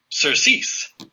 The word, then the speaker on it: surcease: When you click that, it will pronounce it for you. Surcease.